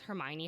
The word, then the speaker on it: Hermione: Like, you know in Harry Potter too, that's literally why in the 4th book, Victor Crumb asks Hermione how to say her name.